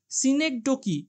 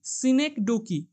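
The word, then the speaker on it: synecdoche: এই উচ্চারণটা খুব ভালো করে দেখো। সিনেকডোকি এস ওয়াই এনই সিডি ও সি এই সিনেকডোকি এরকম উচ্চারণ হবে।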